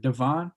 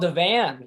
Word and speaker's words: Devan: you might have to check me on the pronunciation. Is it Devon? Kyle Devon? Oh, Kyle Devan.